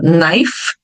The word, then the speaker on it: knife: verbo saber ou conhecer quando as palavras começam com a letter k n então o som do k vai ficar mudo então o k vai ficar mudo como na palavra to know que é o verbo saber ou conhecer como na palavra Knife faca ou na palavra night